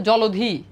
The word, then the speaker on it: জলধি: তো বুঝতে পারতেছো এখন এটার উচ্চারণ হচ্ছে জলধি এটা দেখো এটা যেভাবে